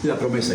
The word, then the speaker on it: La Promesa: You're La Promesa. Is that how I pronounce it? La Promesa, yes.